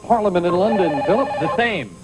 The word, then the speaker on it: Thames: And the river that flows past the Houses of Parliament in London, it's pronounced the Thames, of course.